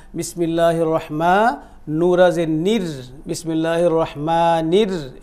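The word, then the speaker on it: الرحمن: এইখানেও রাটা প্রথমে চিকন হবে, এখানে যেমন হারাজের হির ছিল এইখানেও প্রথমে এসে রাটাকে চিকন করে আমরা এটাকে বলা হয় তাজবিদের ভাষায় বলা হয় বারিক বলা হয়, চিকন করে উচ্চারণ করব রাটাকে, নুরাজের নির, বিসমিল্লাহির রহমানির,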